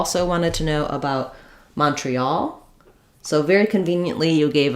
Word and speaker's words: Montreal: in shall and sal, it's usually aw, the aw vowel like in all. So, I would rewrite that for you with aw. For example, Mon tre al. You can think about it just like the word all, as well. All, we all live in Montreal. That's also probably a good way to remember that we that's where we have the stress. In Montreal, I would say we probably have secondary stress on that first syllable because it has the clear aw vowel.